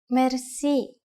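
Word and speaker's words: мерси: Merci. Merci. Merci is a loan word from French, but it is pronounced with the typical Bulgarian hard R.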